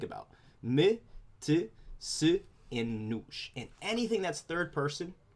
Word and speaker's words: nos: When we get to our first person plural, our we, ourselves, it's very similar to nós, but we remove the accent. It's pronounced nos. So nós, we, nos, ourselves.